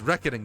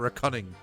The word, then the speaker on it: reckoning: It's pronounced reckoning, not recunning.